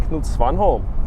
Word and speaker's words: Knut Svanholm: And then we have none other than Knut Svanholm. Did I pronounce it correctly?